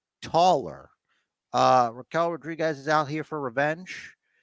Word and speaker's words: Raquel Rodriguez: as big look some might say taller uh Raquel Rodriguez is out here for Revenge am I saying